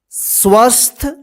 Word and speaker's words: स्वस्थ: आइए शुरू करते हैं देखिए स्वस्थ देखिए आधा स व फिर आधा स था इसको क्या पढ़ेंगे स्वस्थ अगर आपको स्वस्थ लिखने